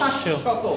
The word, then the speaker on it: শাশ্বত: যেমন আমরা বলি অশ্ব, অশ্ব, শাশ্বত। শাশ্বত। যদি শব্দের মাঝখানে বা শেষে বফলা আসে তাহলে ওই বফলার উচ্চারণ কি হবে? দ্বিত্ব হবে।